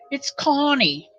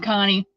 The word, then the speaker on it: Connie: Oh, sure, it's Connie. She pronounces her name Connie. She doesn't think she does. She says she's saying Connie, but she's probably New Jersey.